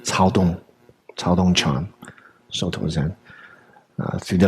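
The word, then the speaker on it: 曹洞: Irrespective of what we may think of Cao Dong, it's pronounced Cao Dong Chan, Soto Zen, through the lens of the kind of Japanese transmission.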